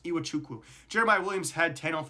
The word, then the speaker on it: Iwuchukwu: points, Malik Mack, who had 11, and Vince Iwuchukwu, who had 12. You're gonna ask me, how can I say Iwuchukwu, but not say some other names like in the NFL or any other basketball games?